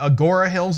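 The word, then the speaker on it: Agoura Hills: Tell us a little bit about Agora Hills. Is that pronounced correctly?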